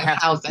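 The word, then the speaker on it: Danhausen: I'm sorry, I'm saying it wrong. Hausen. Yeah, I've been saying it wrong. I've been saying it wrong for the last like 3-4 years. It's you gotta get your dialect up. Hausen. Yeah. Hausen. Yeah. Hausen. There we go.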